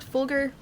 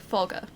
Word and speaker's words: Fulgur: Not Fulgur, Fulgur. I'm pronouncing it wrong all this time.